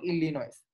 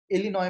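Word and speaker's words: Illinois: इसको वैसे पता है असली में बोलते हैं इलिनॉय बोलते हैं, एस को प्रोनाउंस नहीं करते, लेकिन मैं कर दूंगा बार बार क्योंकि मेरे को आदत है इसको प्रोनाउंस करने की, इलिनॉइस इलिनॉइस बोलूंगा, लेकिन असली में इलिनॉय होता है, ठीक है।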